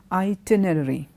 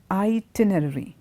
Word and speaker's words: itinerary: interesting it's a word it's kind of difficult to pronounce because it's got two R's coming in there itinerary itinerary it means whenever you're